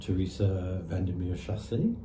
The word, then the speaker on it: Teresa Vandermeer Chassé: And Teresa Vandermeer Chassé, am I pronouncing it That's correctly?